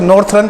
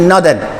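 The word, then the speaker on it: northern: ध्यान से देखिएगा बेटा, कई बच्चे इसको नॉर्थर्न पढ़ देते हैं, नॉर्थर्न नहीं है, नॉर्दर्न। इसको यहाँ से नौ पढ़ना है, आर को साइलेंट करना है, ई को साइलेंट नहीं करना, आर को करना है नॉर्दर्न। तो इसका जो सही प्रोनाउंसिएशन है बेटा वो है नॉर्दर्न, मतलब उत्तरी, जो ये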